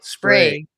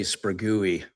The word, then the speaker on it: Sprague: At least you didn't say Spragooey, because that's how it's spelled.